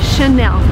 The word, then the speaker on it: Chanel: And the right way to pronounce it is again in French because it's from France. So the correct way to say this word is Chanel.